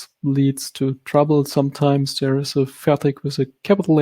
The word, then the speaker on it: Fertig: And turns out this is more the dialect tongue speaking here, because in proper German it's called Fertig with a ch sound at the end.